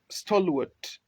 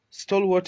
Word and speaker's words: stalwart: four we have the word stalwart stalwart stole what is spelled s-t-a-l w-a-r-t again s t a